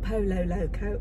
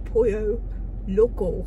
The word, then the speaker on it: Pollo Loco: at I said Marie it's not Polo Loco it's pronounced a Pollo Loco or whatever so I